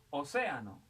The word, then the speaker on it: océano: Océano es esdrújula, todas las esdrújulas llevan tilde.